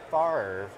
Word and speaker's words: Favre: He says Favre, which makes no sense based on the way it's spelled.